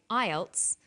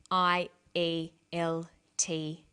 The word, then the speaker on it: IELTS: is called an acronym with an acronym we don't pronounce the individual letters we pronounce it as a word so we say IELTS not I al t is some other examples